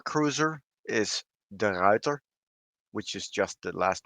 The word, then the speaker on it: Ruyter: that time the tier 4 cruiser is the reuter which is just the last name of michiel